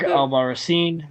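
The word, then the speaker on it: Albarracín: I always said it wrong every single time. Because I'm not calling him Captain America, because he's too much of a goober. Nah, but you could have just pronounced the vowels correctly.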